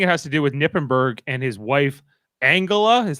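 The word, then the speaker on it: Knippenberg: and I think it has to do with Nippenberg and his wife Angela.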